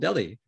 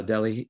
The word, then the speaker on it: Delhi: delhi new york and it is spelled d-e-l-h-i and nobody really knows why it's called delhi um they don't call it like uh delhi but they call it delhi but um i think